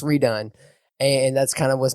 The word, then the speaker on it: R3DONE: The number 3 Done. It's pronounced redone.